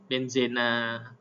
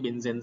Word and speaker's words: benzena: ini namanya adalah benzen benzena gitu ada yang nyebutnya benzen saja karena kalau e bahasa Inggrisnya kan memang bacanya benzen gitu tapi ada yang bacanya benzena gu bagus loh ini kalau